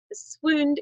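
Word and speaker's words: swound: Now, swooned is an archaic version of the word to swoon, and it sounds like the word wound, not around. You'd expect it to sound like around, but it doesn't.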